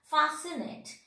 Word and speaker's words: fascinate: That means C is silent here. Fascinate.